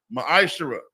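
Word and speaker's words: מעשר: The book of Malachi, chapter 3, verses 8 through 10, means 10th in the Hebrew is pronounced ma'ashara.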